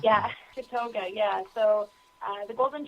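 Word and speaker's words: Tatogga: Tad Tadogga or how do you pronounce the project? Tatoga. Tatoga. Yeah. Tatoga.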